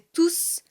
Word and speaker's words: tous: Et dans ce cas-là, quand tous est un adjectif, le S de tous n'est pas prononcé. Par exemple, dans la phrase « Tous les enfants sont à l'école ».